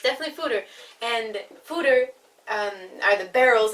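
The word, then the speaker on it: foeder: spelled F OED er and I pronounce it food or does that Oh Bridger it's Peter and the google it no it's definitely footer and fooder are the barrels that are used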